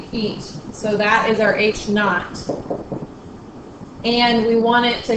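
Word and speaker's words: H₀: in seconds and then H naught so it's H Sub Zero that's how you say it H naught that's the object's initial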